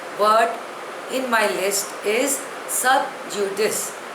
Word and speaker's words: sub judice: The 40th word in my list is sub judice. Spelling is S-U-B-J-U-D-I-C-E. Pronunciation is sub judice. It is a Latin word.